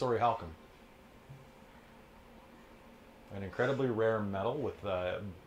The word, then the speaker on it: Orichalcum: Orichalcum? Orihalcum, yeah. Okay. Or orichalcum, or if you pronounce it in the original Greek, weird.